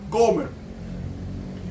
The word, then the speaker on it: Gomer: Era que Dios quería enseñarle al profeta Oseas que así como él buscó a Gomer, que en hebreo se pronuncia Gomer, así como Oseas buscó